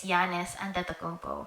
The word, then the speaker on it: Giannis Antetokounmpo: Oh, I don't know if he's still my favorite, but someone like one of my top players is Giannis Antetokounmpo.